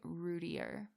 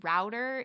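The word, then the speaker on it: Routier: about but yeah darlie rudier I think is how you say her last name I've I've heard it pronounced two different ways it's router and rootier but that's that's well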